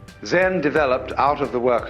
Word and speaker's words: Zen: Eka is Japanese pronunciation, like Zen is the Japanese pronunciation of the Chinese Chan. And the story is that when Eka came to Bodhidharma, Bodhidharma refused to accept him as a student. All Zen masters do this.